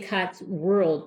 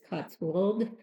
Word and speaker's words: Cotswold: I want to say Cotsworld, but there's no R in it. So it's Cotswold Collectibles.